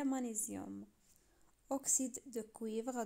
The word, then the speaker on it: magnésium: oxyde de magnésium كاينه الجي والان ما كنقولوش مغنيسيوم بالفرنسي، كنقولوا مغنيسيوم، يعني الجي هنا موي ما كتنطقش. oxyde de magnésium هو اكسيد المغنيسيوم. كيف ما لاحظتوا في العربيه كنقولوا المغنيسيوم، يعني في الفرنسيه مانيزيوم.